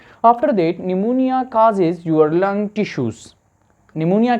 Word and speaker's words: pneumonia: देखना है कि जो निमोनिया में पी है यह साइलेंट है ठीक है सो आपने प्रोनंसिएशन भी सीखनी है कि इसको हम निमोनिया कहते हैं ठीक है पी साइलेंट है निमोनिया कौन सा इंफेक्शन है